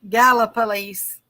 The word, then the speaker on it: Gallipolis: know why you gotta it's like you put extra syllables in the work I don't know it's just the way it looks I mean it's it looks like gala gala police I got it she's